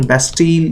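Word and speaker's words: Bastille: ठीक है, इसका प्रोनाउंसिएशन बेस्टील या बेस्टी, ठीक है, कुछ भी आप कर सकते हैं, दोनों में से कोई एक जो है वो आप कर सकते हैं.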